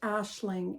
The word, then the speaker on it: Aisling: the place apparently the Irish Google says it's pronounced Ashling and it's Irish so I'm going to go with Ashling here it is on my form my dress